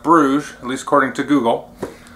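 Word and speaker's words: Brügge: pronounce this I was calling it bu or buges or something like that it's called pronounced Brugge at least according to Google this is a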